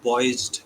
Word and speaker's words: poised: Try saying it with the Z sound.